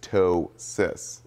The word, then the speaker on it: ptosis: pronounce it it's just toe CIS like a toe and a sister now it's caused by